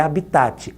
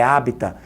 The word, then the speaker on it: habitat: não é habitate não a pronúncia não é habitate É hita então hita é o